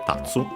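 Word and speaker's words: 立つ: uh to stand up it's accented tatsu uh to rise guys.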